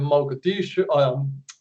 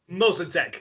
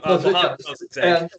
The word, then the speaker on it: Mossadegh: elect their own representative, a guy named Mogadishu. Do you remember how to pronounce his name? Mossadegh. Yes. Mossadegh.